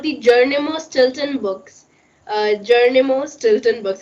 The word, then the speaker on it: Geronimo Stilton: Geronimo Stilton.